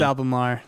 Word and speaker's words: Albemarle: You said it right. Leave him alone. It's Albemarle.